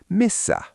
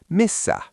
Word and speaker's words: Missä: The stationary where is misa. Student how do you say where or at or in misa.